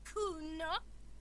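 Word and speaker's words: Cuno: And you fucking asked me to nick it, Kuno.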